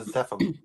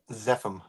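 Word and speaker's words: Zephum: in your book the actual term is the zepim which looking back it again zepim I have no idea why it shows that name how do you spell that z p h u m oh okay zepim and that's definitely something I'd go back and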